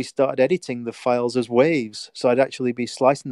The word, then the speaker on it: WAV: to say it so in our in gremlin we called them wav files and of course their wave files but enough they've cut the e off so but it's funny